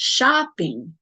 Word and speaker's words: shopping: form of shop shopping we always stress the first syllable so it's shopping dancing hiking okay and when we stress